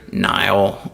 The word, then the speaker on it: Niall: And Susan Gamba, Larry and Diana Enriquez, Catherine Kingsbury, Niall, or hit me pronounce it Neil, but Murray, Merritt and Joan Patterson, Justin Silverman, David Steele, my good friend Alan Stewart, the T.